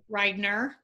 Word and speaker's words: Ridener: Do you pronounce it Ridener? Ridener.